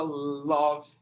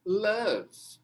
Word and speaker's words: love: Quem falava love até hoje? Né? Não, a pronúncia correta é love.